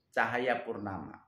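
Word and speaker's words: Tjahaja Purnama: 2016 itu Jakarta dipimpin oleh gubernur yang bernama Basuki Cahayapurnama atau BTP. Pakai ejaan lama ya. Cahayanya TJ.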